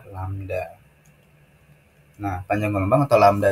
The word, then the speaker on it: lambda: dengan lambang kayak gini tapi ini bacanya adalah lambda nah panjang gelombang atau